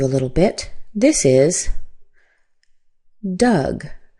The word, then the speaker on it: Doug: The o u is an u sound. Uh as in fun. In fact, did you know that d o u g sounds exactly like d u g, which is the past tense of dig, dug, dug.